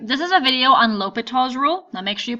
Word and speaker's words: L'Hospital: is a video on lal's Rule now make sure you pronounce it right you don't pronounce the s in it it's not Hospital's rule Lal now this